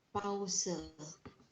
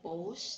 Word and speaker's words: Pause: Dan yang terakhir adalah pause. Kalau bahasa Inggris mungkin ini pause, tapi di kita bacanya pause.